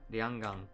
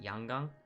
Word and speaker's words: Yanggang: Yeah, Lianggang. But in South Korea, they pronounce it Yanggang.